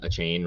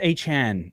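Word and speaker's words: Achane: It's A-Chan, apparently. Is it A-Chan? Yeah, you literally just now were trying to rip on me for saying it wrong. And I didn't. I got it wrong. Damn it. Now, I'll explain why I say that name incorrectly, because I did Dynasty content the entire offseason, and all of the Dynasty community pronounced the name A-Chain.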